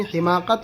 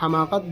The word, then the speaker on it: حماقت: سامان اور دیگر ضروریات۔ حماقت، یہ لفظ حاء زیر اور حاء فتحے دونوں کے ساتھ، یعنی حماقت اور حماقت دونوں طرح پڑھ سکتے ہیں۔ نادانی، بے وقوفی، خجل،